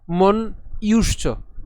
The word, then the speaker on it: মন্যুশ্চ: তাহলে একে যদি উচ্চারণ করি ইউধা, অর্থাৎ যদি ভেঙে লিখি ইউধা। এরপর মন ইউশ্চ।